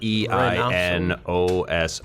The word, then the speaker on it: Reinoso: Reinso or Reinoso. It's Reinoso.